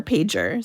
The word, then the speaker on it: Pager: She said her last name is pronounced like old time early 2000s beeper pager.